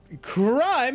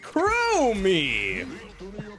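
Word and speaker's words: Chromie: late game stolen crime crime it's pronounced crow me krummy chromia river and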